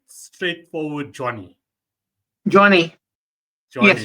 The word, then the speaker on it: Jonni: So, am I pronouncing this right? Straightforward Johnny. Johnny, yes, Johnny, it's correct.